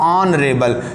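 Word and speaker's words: honorable: रेबल है जरा देखो आप ऑन रेबल ना कि एच को पढ़ते हैं ओ से शुरू करते हैं ए साइलेंट है इसके लिए एन लगाया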